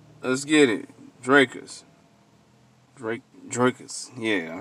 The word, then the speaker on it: Drakus: and heroes Fest let's get it drers Drake draus yeah I said it right y'all